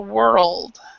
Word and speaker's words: world: because of that we need to actually pronounce that l so it's a world okay world and and and when you think about the tongue it just goes around your mouth it whir it doesn't touch your teeth until the very